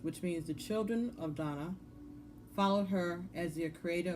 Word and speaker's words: Danu: Dana, the High Priestess. Donna. Okay, that's how I want you to pronounce it.